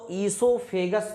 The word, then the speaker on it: oesophagus: ओ silent होता है इसलिए हम इसको ईसोफेगस पढ़ते हैं।